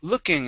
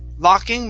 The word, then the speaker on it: looking: above average looking okay instead of law we're above average looking we're above average looking there that's it okay that's the uh sound great uh next is um